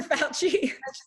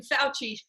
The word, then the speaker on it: Fauci: Fauci. Italian American Fauci. Right? People are pronouncing it Fauci. Oh, I've it hurts my seen ears. It hurts my ears.